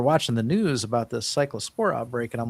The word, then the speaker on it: Cyclospora: Taco Bell, this cla sapora, I can't even pronounce that. And cycllospora cycllospora.